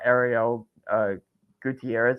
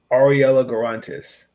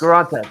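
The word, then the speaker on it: Arella Guirantes: We got Ariel Gutierrez, I think that's how you pronounce her name. We also got Teresa Poisson, who I think she's gonna. Ariella Garantes. Yes. Garantes.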